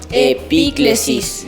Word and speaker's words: epíclesis: niños es el momento les voy a enseñar una palabrita un poco difícil es una palabra griega y se dice y crisis vamos a pronunciar todos juntos el pillo y es otra